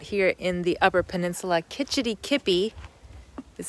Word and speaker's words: Kitch-iti-kipi: Kitch-iti-kipi is how you pronounce this.